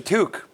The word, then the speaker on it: toque: That's a toque. That's a toque. I learned this. It's a toque. That is a toque. Is it really one syllable? Toque.